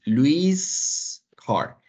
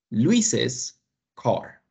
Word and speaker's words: Luis's car: Sin embargo, aquí la pronunciación de esta frase no es Luis car, es Luis's car.